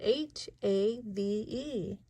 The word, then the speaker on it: have: (hedgehog scuttling) This word is half, we spell it H-A-V-E. In this case, the E is silent, I think it was a little sick.